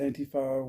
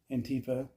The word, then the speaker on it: Antifa: Um, I pronounce it Antifa, which is the European way. Um, Antifa is fine, too. They're both right.